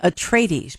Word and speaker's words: Atreides: All were considered for that role, and for the role of, and I'm going to mispronounce the name, Paul Atreides. Is that right? Atreides, Paul Atreides.